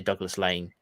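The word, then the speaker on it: Douglas Laing: mossburn having common I get a lot of stick for saying Douglas Lang by the way because I I know up there you'd say Douglas Lange but um it's fine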